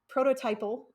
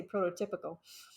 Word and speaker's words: prototypal: I mean, you can just keep going up the chain, up that I'm gonna always pronounce this wrong, prototypal chain. I want to keep wanting to say prototypical, up that chain of